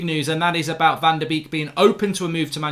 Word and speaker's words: Van de Beek: We're going to talk about Van der Beek to start off with. That rhymes with week.